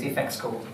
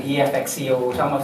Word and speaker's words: Effectsco: It's Effectsco. Some say EFXCO. Some they spell out the name, So it's Effectsco.